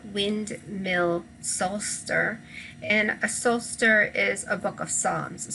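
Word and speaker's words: psalter: mill solster and a solster is a book of psalms so both psalms and soul star oddly do not pronounce the p and they are from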